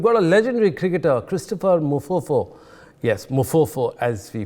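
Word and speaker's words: Mpofu: We've got a legendary cricketer, Christopher Mufofo, yes, Mufofo as we pronounce it, talking about yesterday's match, and since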